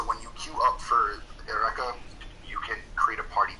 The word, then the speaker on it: Eureka: Alright, patch 4.25 will be about Ereka, for those of you who like to hear it in Japanese. In English, it's pronounced Eureka.